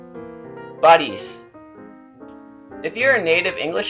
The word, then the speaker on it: Борись: The difference between palatalized consonants and non-palatalized consonants is very important in Russian. Von, von. Boris, Boris.